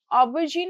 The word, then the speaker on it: Aubergine: Then, aubergine is borrowed from French. So, the final syllable keeps a soft French style zhe sound as in the English word measure.